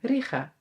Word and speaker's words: Riga: Weet eigenlijk niet wat we zeggen. Riga. Ja, met een G.